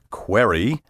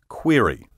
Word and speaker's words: query: now so often mispronounced query or query that these variants have made their way into a few current dictionaries until quite recently however dictionaries gave only one pronunciation which I recommend as preferable query now let's look at